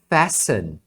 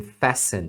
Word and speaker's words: fasten: daí vem o verbo Fashion tá essa pronúncia é assim mesmo Fashion eles não pronunciam o t nesse verbo tá nos outros em